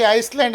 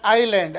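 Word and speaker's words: island: so peninsula ಅಂದ್ರೆ ದ್ವೀಪಕಲ್ಪ ಐಲ್ಯಾಂಡ್ ಇದನ್ನು ಹೆಚ್ಚಾಗಿ ಐಸ್ಲ್ಯಾಂಡ್ ಅಂತ ಹೇಳಿ ಜನರು ಓದುತ್ತಾರೆ ಇದು ಐಸ್ಲ್ಯಾಂಡ್ ಅಲ್ಲ ಎಸ್ ಐಲ್ಯಾಂಡ್ ಇದೆ ಇದರ ಉಚ್ಚಾರ ಐಲ್ಯಾಂಡ್ ಐಲ್ಯಾಂಡ್ ಅಂದರೆ ಏನು ದ್ವೀಪ ನಾಲ್ಕು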